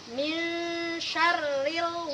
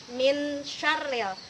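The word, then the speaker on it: مِنْ شَرِّ: tibc dengan the dengung contoh Mi syarril waswasil khannas Misterius bukan bunyinya seperti bunyi non mati aja bukan Min syarril walaupun Antum dengungkan tapi tidak tersamarkan bunyi ikhfa ini ke dalam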